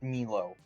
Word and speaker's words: Milo: Their name is pronounced Milo.